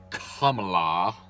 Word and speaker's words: Kamala: Let's stop looking at Joe Biden and stop looking at Kamala, is her name, apparently. That's the proper pronunciation, as the left is just like so obsessed with properly pronouncing it, Kamala Harris.